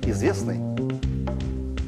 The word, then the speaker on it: известный: Этот согласный звук является непроизносимым в слове «известный». Непроизносимый. Да. Т. Т. Известный. Пишется, но произносится «известный».